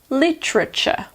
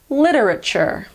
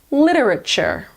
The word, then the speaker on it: literature: opinion you can choose in the American pronunciation the first T is actually more like a D sound it's called a flap T so the American pronunciation is literature literature word number eight is